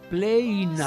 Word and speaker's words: plena: Em latim, pleina. Somente. Ele pronuncia assim, pleina. É lindo.